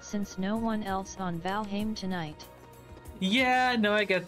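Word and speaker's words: Valheim: seeing that seeing that I pronounce it as valim because it's closer to the to Old noris the damn speak up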